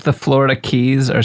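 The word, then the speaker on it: Cay: Even though I have been to many places that are keys and I know it's supposed to be pronounced key.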